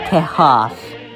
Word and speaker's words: Tejas: Texas would be spelled like this and pronounced Tejas.